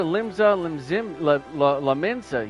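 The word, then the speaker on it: Limsa Lominsa: going into war and uh let's go to limbs la mensa yeah that's how you say it don't question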